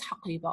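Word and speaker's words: حقيبة: But this ha now, which is this ta marbuta, which is pronounced as ha, when it's not attached to any pronoun, a possessive pronoun suffix, it changes, because this is ta marbuta, it changes to become in the middle as ta that needs to be pronounced.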